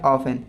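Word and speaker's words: often: एंड इसके बाद next आपका है 28 नंबर जो कि है ऑफन, है ना। ऑफन कहेंगे इसे, ऑफ्टन नहीं कहते हैं। इसका जो सही प्रोनाउंसिएशन है ऑफन।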